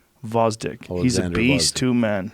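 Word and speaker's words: Gvozdyk: y k but it's vosdick you don't pronounce the g vozdick he's a beast two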